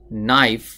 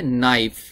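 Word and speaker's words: knife: এটার সঠিক উচ্চারণ হবে নাইফ এই কে লেখার সময় লিখতে হবে কিন্তু উচ্চারণ করার সময় উচ্চারণ করা যাবে না নাইফ নাইফ মানে হলো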